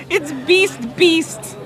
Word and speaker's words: Beast: It's not best within. It's beast. It's beast.